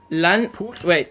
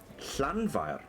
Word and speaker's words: Llanfair: Llanfair.